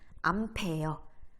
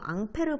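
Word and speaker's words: Ampère: 혹시 앙페르 법칙 우리 다음 시간에 등교하면 배울 건데 앙페르라는 게 사람 이름으로 이 사람 이름을 프랑스식으로 읽으면 앙페르인데 미국식으로 읽으면 암페어, 암페어가 되거든.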